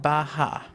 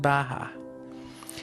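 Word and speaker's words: beatha: take you through bioenergetic breathing we call it bah ha now that is an irish gaelic word that means life and it's spelled DEA tha but it's pronounced baja so when we breathe in i say bah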